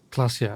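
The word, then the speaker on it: Klaasje: Klasia. Okay, that's how it's pronounced.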